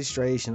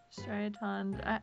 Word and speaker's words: Striaton: See, now I say striation no matter what. Was it Striaton? Striaton. I don't know how to say it. It's not striation, though.